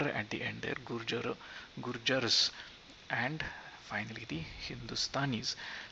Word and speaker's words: gurjar: to go alphabetically the bengalis the dravidians the gurjars it is gurjar is the singular gurjars is the plural guru hence the a and after the j and the r at the end are gurjar gurjars and finally the hindustanis so let's look